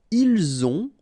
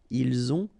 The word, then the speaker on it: ils ont: the two, vous avez, ils ont, okay, final T not pronounced, and then we make the liaison, ils ont, elles ont.